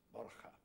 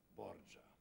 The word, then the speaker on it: Borja: Er hieß Borja, ein spanischer Name. Und die Italiener haben ihn italienisch ausgesprochen, italienisiert, und so hieß er denn Borgia.